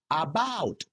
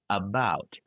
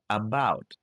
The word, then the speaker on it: about: Don't say about, again, banana. Say about. Uh, uh, about.